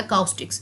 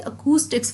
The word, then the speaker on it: acoustics: सबसे पहले तो सारे स्टूडेंट्स इसकी प्रोनाउंसिएशन में बहुत गलती करते हैं, काफ़ी इसको अकाउस्टिक्स पढ़ते हैं। This is नॉट अकाउस्टिक्स, this is अकूस्टिक्स phonetics, ठीक है।